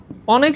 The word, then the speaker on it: অনেক: আবার আমি যদি বলি অনেক, অনেক শব্দের উচ্চারণ কখনো তুমি অনেক এটা করো না, হয় না। সাধারণত নেগেটিভ শব্দগুলোর উচ্চারণ কি হয়, স্বরেয়ই থাকে। তার মানে অনেক, এটার উচ্চারণ অনেকই থাকে, এটা কোনো চেঞ্জ হয় না।